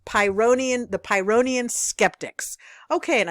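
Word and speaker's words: Pyrrhonian: I pronounce pronounced it pyroian there is no uh and H in pyonium the real pronunciation for this Greek philosopher is pyonium the H is silent there's no a in there so it's pyonium the pyonium Skeptics okay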